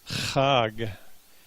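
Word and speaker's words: חג: say festival in Hebrew hug yet the guttural roll that front end of it hug and we say like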